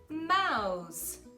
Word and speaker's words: mouse: E a mesma coisa na palavra mouse, mouse, não é mouse, tá bom, galera?